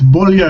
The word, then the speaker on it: Beaulieu: It's Beaulieu. It's French.